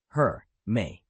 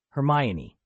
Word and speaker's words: Hermione: Her, May. Hermione, Aaron said, speechless. Your pronunciation is somewhat substandard.